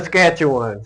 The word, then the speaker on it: Saskatchewan: How you pronounce it? Saskatchewan.